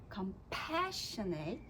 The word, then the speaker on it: compassionate: So when we say but you Lord are a compassionate compassionate Exactly. Good, that's where you're going to raise the pitch and also kind of stress and emphasize that word.